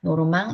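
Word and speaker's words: Normand: 노에가 사람 맨 붙여서 노르망 이렇게 불렀어요 그래서 어 여기 노르망이라고 부르고 발음은 프랑스어 노 노르망 이렇게 되는 거죠 그래서 바이킹 족들을 노르만이라고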